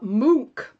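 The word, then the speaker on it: Munch: because that's always confusing edvard uh mook is how it's pronounced the dance of life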